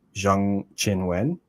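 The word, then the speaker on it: Zheng Qinwen: problem where so like her name is actually pronounced more like Jang Chin Wen but if you go like on the WT website she just says her name is Chinwin Jiang.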